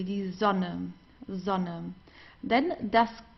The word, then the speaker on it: Sonne: Die Sonne, the same. Here we have a double consonant, so we pronounce the vowel before that, or in front of that, very briefly. Die Sonne, Sonne.